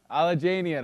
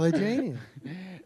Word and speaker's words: Alajanian: Alajanian. I should know it by now. Just the way it's spelled. I say it every time. Alajanian.